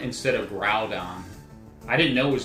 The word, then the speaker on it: Groudon: I always called it Grudon instead of Groudon. I didn't know it was Groudon.